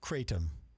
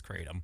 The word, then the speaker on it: Kratom: I believe it's Kratom.